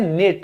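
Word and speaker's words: knit: में आप कैसे बोलोगे इंग्लिश में बुनने को हम कहते हैं निट यह के जो है यह साइलेंट है आप सिर्फ याद रखिए निट तो मेरी दादी मेरे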